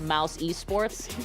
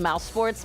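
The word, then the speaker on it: mousesports: I was on League I actually pronounced it Mouse eSports instead of mouse sports because I don't know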